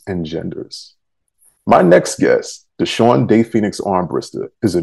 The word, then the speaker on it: Deshaun: Is it Deshaun or Deshaun? Oh, it's Deshaun.